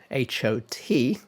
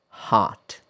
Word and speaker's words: hot: hot hot Well, I said the British pronunciation first. All right. So, in most varieties of American English, the vowel is more open.